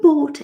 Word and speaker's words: bought: Have you bought it? Bought. So really, the GH is not really there. Just say the T, because then it's easier, okay?